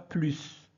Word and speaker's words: plus: ne verbe conjugué plus on dit pas plus on prononce pas s plus d'accord parfait et ne